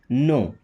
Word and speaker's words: know: Okay, अगला word देखिए KNOW, आपने कई बार सुना होगा, इसे क्या पढ़ते हैं? नो। अब नो पढ़ते क्यों इसको? क्योंकि यहाँ पे K और W साइलेंट है। ओके, जैसे यहाँ फ्लोर है ना, तो फ्लोर में W साइलेंट है, फ्लोर। यहाँ पे KW दोनों साइलेंट।